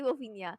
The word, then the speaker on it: Fofinha: lot of people kasi they mispronounce my username, Fofinha. Pero it's actually Fofinia.